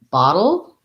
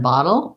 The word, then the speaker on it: bottle: Okay, we have a question about battle versus bottle. So both of these have our flap T and our syllabic L. The main difference between battle and bottle is that battle has